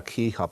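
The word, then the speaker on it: CEHOP: what we call our Keyhop Framework. And this is something we developed ourselves on the campus, and it's a hard C as opposed to a soft C.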